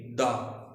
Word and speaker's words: the: इफ THE comes before such a word which starts with a consonant sound, THE is pronounced द।